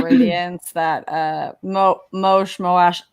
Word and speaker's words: Moash: that uh mo mosh moash is it moash i've always said most how they moash is how they pronounce it in the audiobook i should listen to